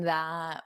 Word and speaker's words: that: me in, me in that photo. That photo. So you don't have to pronounce this end T, otherwise, it will cause you to take a pause, and we don't want that.